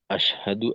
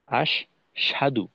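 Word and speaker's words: أشهد: তো এই অংশে দেখা যায় যে অনেক সময় অনেকে এভাবে বলে আশহাদু, আশহাদু। তো সেক্ষেত্রে আহ, হায়ের উচ্চারণটা স্পষ্ট হয় না। ওই হুম, ওই সেক্ষেত্রে হয় আশ সাধু, অর্থাৎ শিনি একটা তাসদিদের মতো করে পড়ে হায়ের উচ্চারণটা বাদই পড়ে যায়।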